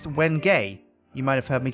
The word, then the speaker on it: wenge: Now, the one thing that I've been told, which is kind of curious, is that the wenge is actually pronounced wenge.